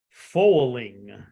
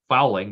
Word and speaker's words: Fowling: So the sport this week, it is pronounced foaling. Bowling. Okay. It's being spelled Foeling, but it is actually spelled Fowling. Oh, which should be pronounced fouling, but you say it's foaling.